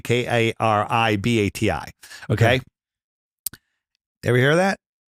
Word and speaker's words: Kiribati: So, and then all it said was registered at the nation of Kiribati. Now, it's called Kiribati, but it's spelled Kiribati, Karibati.